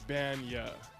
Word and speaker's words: Bagnah: So it's pronounced Bagnah. So you start with the Ban, B-A-N, and then Y-A-H, yeah, Bagnah.